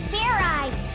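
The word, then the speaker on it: Fairize: sort of like idiot it's pronounced fair eyes there's no ice in it what does this fair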